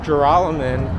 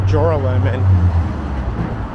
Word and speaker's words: Joralemon: And it is pronounced Joralemon, but it's spelled like Joralemon. And for my first 2-3 years of living in New York, I pronounced it incorrectly. I pronounced it Joralemon until a classmate of mine ridiculed me.